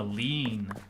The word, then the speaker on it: lien: Ooh, a lien. I know it's actually pronounced lien, even though it looks like lane.